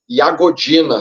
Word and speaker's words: Jagodina: que é na cidade de iagodina se escreve jagodina né Eh no interior da